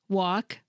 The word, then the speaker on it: walk: Listen to me say these words: walk, talk, and half. Did you notice that even though all these words have an L in their spelling, I didn't pronounce them?